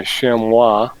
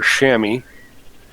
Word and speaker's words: chamois: um i'm hoping the shamwa or shami i've heard it pronounced both ways chamois or still over